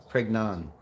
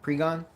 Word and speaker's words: Pregnon: Pregnon. You can't say that. Pregon? Oh. So the other N is silent. Pregon?